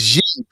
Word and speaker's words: Xi: How do you pronounce the Chinese? Xi.